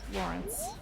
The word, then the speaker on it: Lorenz: Report from Google, I'm saying Lorenz the way most pronunciations do. You did not find a single one that said Lawrence. Okay. Interesting. Good to We're all know. desperate, aren't we? But the game says it's Lawrence.